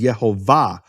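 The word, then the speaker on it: Yehovah: The emphasis of the word is in the final syllable. It's marked that way in all Hebrew manuscripts with vowels. No question about it. All the Hebrew manuscripts with vowels mark it as Yhovah.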